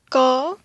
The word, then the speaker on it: ក: première c'était corps donc qui se prononce comme ceux-ci corps ensuite nous avons la